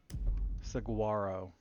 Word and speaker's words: Saguaro: First thing, I just want to confirm I am pronouncing your last name right. Is it Saguaro or Saguaro? Saguaro.